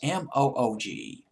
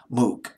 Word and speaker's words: Moog: It was called the, it's Moog, Moog. I'll just call it Moog.